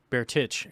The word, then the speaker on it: Bertich: I said Bertich. Bertich is the right way to say it.